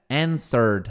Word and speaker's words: answered: Answered respondeu. É som de D.